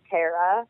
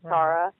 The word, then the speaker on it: Tarra: They think my name's Tarra instead of Tarra. Right. So they'll spell it Tara, and so hopefully soon people will know it enough to know where to go.